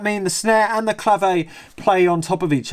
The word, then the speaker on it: clave: gets swapped with a clave uh i've found out that's how you put supposed to pronounce it not clav like i've been pronouncing it my whole life so i i wonder